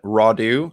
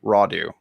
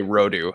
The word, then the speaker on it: Rodu: post from dr brad raudu i think i said that correctly rawdu i used to say it wrong all the time i used to say rodu i think it's rawdoo um correct me if